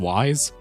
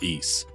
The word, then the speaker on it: Ys: Now for the record, it was only until I made this video that I learned it's not pronounced Wise, it's pronounced Ys.